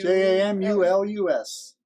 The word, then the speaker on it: Jamulus: somewhere oh jam you j-a-m-u-l-u-s like calculus but jamulus there we go all